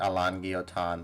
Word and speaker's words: Alain Guillotin: I forgot it's French, so you have to pronounce it like Alain Guillotin.